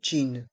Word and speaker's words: jean: Le mot jean se prononce comme en anglais. Un jean.